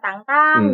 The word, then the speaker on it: Tintin: Nggak, kalau Tangtang itu kan sebenarnya pronunciation-nya aja ya. Kalau di Perancis kan memang Tangtang gitu judulnya.